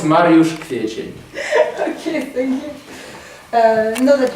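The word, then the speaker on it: Mariusz Kwiecień: They couldn't pronounce this name and they called me Mario Aprile because it was much easier to pronounce. So, no, now it's Mariusz Kwiecien.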